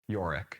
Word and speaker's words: Yorick: That's just How do you say it? Yorick. Yorick? Yorick Brown. All right, we'll go with that.